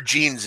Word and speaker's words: Jean: But pronunciation for Jean Seagura like blue jeans.